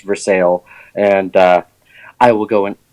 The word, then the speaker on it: Versailles: But there's also a great Cuban restaurant called Versailles there that it's spelled Versailles, but it's pronounced Versailles.